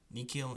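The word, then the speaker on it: nihil: going and there are two other exceptional words the word Nikhil and Miki so we pronounce those with a K sound the only other exception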